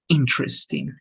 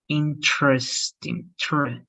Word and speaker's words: interesting: it's going to be interesting and also here right you don't say interest you say interesting so in the the stress in the first part interesting right interesting here